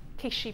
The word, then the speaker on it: Keshi: so many different shades i say quiche some people say we say it differently don't we how do you say kishipels keshi pearls keshi you said casually say keshi shouldn't i it's a bit calcidone